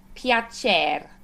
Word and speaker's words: piacer: And then we have piacer. Piacere. Yes. So the CER again, ch.